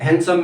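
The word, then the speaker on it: handsome: उसी तरह किसी की जिंदगी में, जैसे कि हैंडसम में डी साइलेंट है, वेंसडे में डी साइलेंट है।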